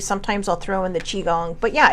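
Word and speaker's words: qigong: So, and now if you look up chiong, you got to look it up under qi cuz that's how it it's spelled. Qi, chiong. And then just gong, like the gong show.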